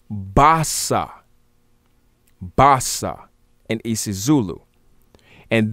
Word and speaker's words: basa: is calling our best a-a-b-e-s would actually be pronounced basa basa and isis zulu and this bossa b-a-s-a